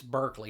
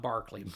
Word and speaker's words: Berkeley: I'll be damned before I pronounce e r like a r.